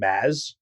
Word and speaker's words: Mads: Do you keep calling him Maz? Yeah, I believe that's actually how it's supposed to be pronounced.